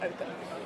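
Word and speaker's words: Opn: smell though in that's correct yes OPM but pronounced open thank you so much for your time today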